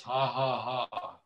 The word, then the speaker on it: 555: เ จ้ า Louis in Thailand 555 is pronounced ha ha ha เ พ ร า ะ ว่ า ป